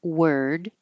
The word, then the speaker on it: word: English Harry Potter and singular word it looks like o r and it sounds like e r word and then the plural